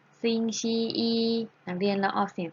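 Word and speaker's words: 星期一: จะ เอา เสียง ว่า สิ่ง ที่ อี อี ซิง ชี อี นัก เรียน เรา ออก เสียง สิ คะ มี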